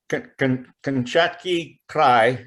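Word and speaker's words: Kamchatka Krai: Kamchatki Krai, I think is the more closer Russian pronunciation, with the Kamchatka Steelhead project.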